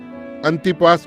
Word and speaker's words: अंतिपास: मैं सोचता हूं कि आप उसका ए एन टी आई पी एस अंतिपास उच्चारण करते हैं।